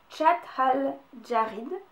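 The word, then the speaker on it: Chott el-Djerid: traduction en arabe donc si je suis la prononciation c'est le lac chathal jarid voilà donc c'est en Tunisie et donc le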